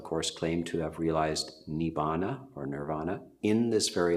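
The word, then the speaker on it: nibbāna: The early suttas, and the word which is commonly pronounced nirvana in Sanskrit is pronounced nibbana.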